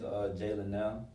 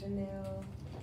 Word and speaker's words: Jalynelle: People say it so wrong. You know what I mean? They get to Janelle. I think it's Jalynelle.